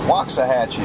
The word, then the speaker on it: Waxahachie: Waxahachie, Texas, or Waxahachie is how you say it.